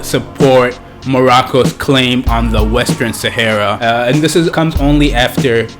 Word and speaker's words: Western Sahara: There's an area right next to Morocco called the Western Sahara, or the Western Sahara, if you say it right.